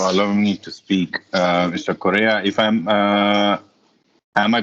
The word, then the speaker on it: Correa: Correa, if am I pronouncing your name right? Yes, Mr. Yes, Korea. North Korea, South Korea. That's the correct pronunciation.